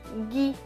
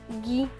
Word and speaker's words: gui: Plus loin, G et U, G, avec le I, cela donne gui. Donc ce mot se prononce gui. Du gui.